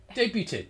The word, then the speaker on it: debut: No, the word debut, as in your debut, your very first one, your debut is D-E-B-U-T. You don't pronounce the T.